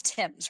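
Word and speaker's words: Thames: Joel don't it yeah it's spelled them but it's Tims right Tims yeah so yes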